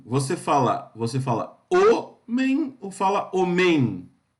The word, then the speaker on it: homem: Homem, você fala homem ou fala homem? Então, a palavra é homem, a sílaba tônica é o, certo?